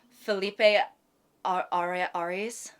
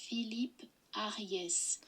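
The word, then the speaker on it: Philippe Ariès: History of Family Life by Filipe Aras. Sorry, he's French. Um, and I definitely pronounced it wrong. Philip Philipe Arias. That was offensive. I'm sorry. Philip Aras. Philip Aras. Okay. Um, so I was majorly wrong.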